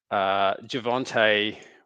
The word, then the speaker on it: Javonte: I'm going to go with Javonte Williams, just because his name rhymes with Devontae.